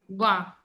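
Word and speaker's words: vingt: Wow. This gives the sound of wow only. G or T is silent.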